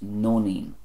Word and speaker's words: Nóinín: for Daisy which is Nóinín, this comes from two words Nóin which comes from the Irish word Iarnóin which means afternoon - nóin and ín pronounced een usually refers to a child or children so Nóinín means the